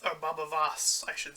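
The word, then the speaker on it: Baba Voss: hunting down the children and jason mamo's character baba yas or babavas i should say as his name is pronounced it goes out with his huge weapon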